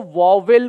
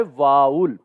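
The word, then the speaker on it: vowel: बच्चों क्या करते हैं, इसको वॉवेल पढ़ते हैं, जो कि इसका गलत प्रोनाउंसिएशन है, राइट। आप में से कोई भी बच्चों इसको क्या ना पढ़े, इसको वॉवेल ना पढ़े, ठीक। इसका जो सही प्रोनाउंसिएशन है वो क्या होता है? इसका सही प्रोनाउंसिएशन होता है वाउल, राइट।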